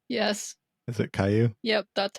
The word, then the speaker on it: Caillou: Is that what how it's pronounced? Yes. Is it Caillou?